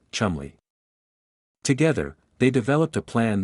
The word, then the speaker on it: Cholmondeley: Working alongside him was a young Flight Lieutenant named Charles Cholmondeley of MI5, pronounced, in a uniquely baffling fashion of the British upper classes, Chumley.